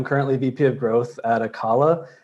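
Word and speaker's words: Acala: vp of growth at akala um pronounced the collets it's kind of difficult and then karua which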